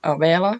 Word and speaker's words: Abela: misses in yeah so how i pronounce my name is abela because that's how you would say it in swedish or finnish but like whatever feels